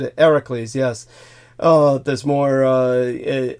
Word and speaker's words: Heracles: Heracles Hercules uh as it's anglicized the correct pronunciation is exactly as George said it hericles yes uh there's more uh eyewitness contemporary documentary